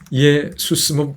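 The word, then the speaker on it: Ἰησοῦς: 이에수스 대략 이런 내용입니다.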